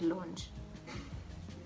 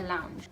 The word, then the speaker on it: lounge: ow ah anyway yes it's ow so it's lounge not as all you need language i'll be just anyway it's lounge guys not lunch not launch not anything else the word is lounge